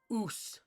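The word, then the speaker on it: Uce: Oos. Okay. You say it like oos.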